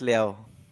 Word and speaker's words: Liau: for having me hello how did you pronounce your name alex how do you pronounce it alex leo yeah yes okay i